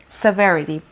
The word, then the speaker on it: severity: call ohio toledo severity severity stress is on the second level severity means um seriousness